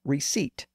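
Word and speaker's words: receipt: happened with the word receip it comes from the Latin word recepta that Latin word passed through French where it lost its P sound that gave us the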